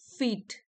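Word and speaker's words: feat: प्रॉडिजीज word है monumental फीट इसको pronounce करेंगे इसकी तरह फीट की तरह बट यह तो होता है पांव यहां इसकी प्रोनंसिएशन सेम है जो भी वर्ड्स सुनने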